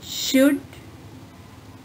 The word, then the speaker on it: should: Should, would, could. La sound is silent in all these three words.